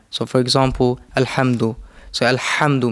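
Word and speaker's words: الحمد: So Alhamdu, make the ha clear, not ha.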